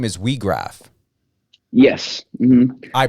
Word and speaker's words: Weag: can blow the whistle your last name is WRA yes I pronunciated that right correct yep that was that